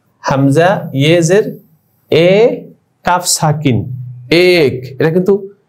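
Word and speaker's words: ایک: যেমন দেখো হামজা ইয়েজের এ, হামজা ইয়েজের এ কাফ সাকিন এক, এটা কিন্তু ইক হবে না। আমরা মনে হয় যে এটা উচ্চারণ করি ভালো লাগে আমাদের কাছে, হামজা ইয়েজের ই, না না এটা ভুল হবে, এক হবে।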